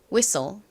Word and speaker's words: whistle: 부분은 덩어리 자인데 뭐였죠 S 뒤에 무음인 t 들어 있고요 그다음에 L 마지막 떨어지이가 있습니다 stle 덩어리로 소리가납니다가 무음이 2는 떨어지니까의 소리인 소 소리가 나는 거죠 자 발음 해 볼게요 whistle whistle 한국식으로는 을이라고 하지만